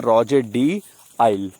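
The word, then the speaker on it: Rouget de Lisle: इसका सही आंसर है रॉजर डी आइल, ठीक है, एल साइलेंट है, रॉजर डी आइल आपको याद रखना है।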